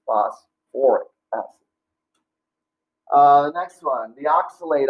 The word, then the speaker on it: phosphoric acid: You need that OR in there, all right, since there's phosphorus in there. So it's not phosphoric acid, it's phosphoric acid.